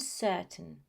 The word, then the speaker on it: certain: They are not mountain and certain. No, the pronunciation is mountain and certain. Just because we see this ending of ain that is found in pain and train, people assume that the pronunciation is the same, but it's not.